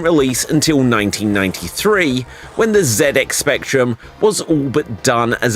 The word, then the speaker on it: ZX Spectrum: ZX spectrum and yes I would pronounce it ZX Spectrum it was a British thing after all it's not the ZX Spectrum it is the zedx Spectrum and it was a